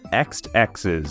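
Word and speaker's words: Exed Exes: not least we have X X's at least I think that's how you're supposed to pronounce it released in early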